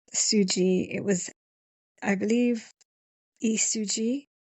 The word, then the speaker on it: Lee Su Ji: It was I believe Isuji. I know Lee is pronounced in Korean as Isuji. So hopefully I said that all right.